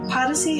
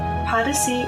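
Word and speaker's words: Podyssey: can learn about it policy is odyssey spelled with a p p o d y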